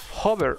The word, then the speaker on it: hover: Para ello tengo que ponerle dos puntos y ahora escribir la palabra hover o hover, se pronuncia en inglés.